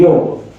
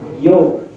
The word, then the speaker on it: योग: योग। तो अगर इंग्लिश में लिखेंगे ऐसा, लेकिन पढ़ेंगे कैसे? योग। भूल से भी ऐसे योगा नहीं बोलना है, ठीक है? उच्चारण गलत है।